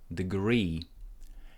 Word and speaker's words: degree: First syllable is unstressed, so there is no stress. Stress goes onto the second syllable, degree.